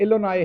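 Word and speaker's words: Illinois: एक तो वो इलोनाई है जी, एस उसमें से साइलेंट कर दें, आप अमरीकी प्रोफेसर हैं,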